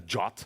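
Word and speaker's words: JWT: that a drop I don't know why we pronounce that a jot but we say drop so jot is basically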